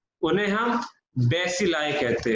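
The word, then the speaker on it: bacilli: और उन सबको हम क्या प्रोनाउंस करते हैं, जितने भी रेड रॉड जैसी शेप के होते हैं उन्हें हम बेसिलाई कहते हैं।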